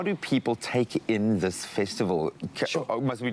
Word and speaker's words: Ta: But about my work, the title of my work is Da or Ta. It's spelled T-A.